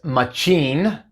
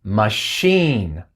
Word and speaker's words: machine: No es machine, sino que es machine.